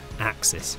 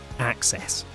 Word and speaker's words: AXS: in 2019 on paper it looks simple sram red etap axis or perhaps sram red etap axs unfortunately both of these are wrong and even the journalists here at bike radar have fallen victim to this naming faux pas in the past so for clarity and sram even has a page for this on its website it's ram access because the group set gives you access to the brand's wider connectivity system still don't believe us